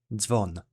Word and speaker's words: dzwon: This one is pronounced as dz, and it sounds similar to the 2 D's and S in the word ads. An example of this digraph being used in a word is dzwon, which means bell in English.